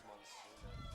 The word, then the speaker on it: Monsina: I said her name wrong. It's Monsina, not Monica.